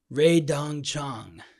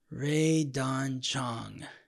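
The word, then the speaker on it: Rae Dawn Chong: I don't want to mispronounce it in any way. Ray Dong Chong. Yes. Ray Don Chong.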